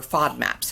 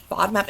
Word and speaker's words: FODMAP: out of Australia about food maps or FODMAPs, however you want to pronounce it. FODMAP is an acronym. It's FODMAP, and it stands for fermentable oligo, di, and monosaccharides and polyols.